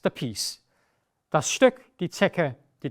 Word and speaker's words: Zecke: We also have the combination C and K, which is very easy. Here you only have one pronunciation, it's K. So in fact, you could actually take away the C and you would still be pronouncing it K, but why should we keep things simple if complicated is also available? The blanket is die Decke, the Tick ist die Zecke und das Stück ist the piece.